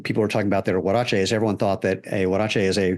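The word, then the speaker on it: huaraches: wach so it's it's it's a Spanish word so the H is um it's kind of like a w really I mean the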